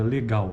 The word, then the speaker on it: legal: Então, outro exemplo, a palavra legal, a mesma coisa. A acentuação, a tônica dessa palavra está na segunda sílaba, né?